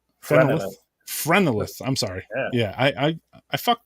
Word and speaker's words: Phrenelith: Phenolith, is that a Dutch pronunciation? As for the pronunciation, it's a made-up word, so you can pronounce it any way you want. I would say Phrenelith. Phrenelith.